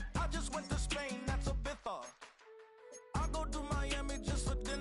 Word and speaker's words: Ibiza: I just went to Spain, that's a Ibiza. Ibiza. Yeah, it's pronounced Ibiza, actually. difference, man. Ibiza, Ibiza, you won't see me in neither.